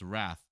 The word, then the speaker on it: rath: Pronounce wrath to rhyme with bathy.